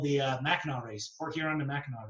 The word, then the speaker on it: Mackinac: So it's spelled island? Mackinac Island. Mackinac. But somehow it's called Mackinac.